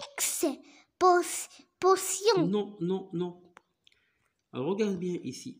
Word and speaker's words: exposition: Lorsque E, alors E est suivi de la lettre X, il se prononce comme A.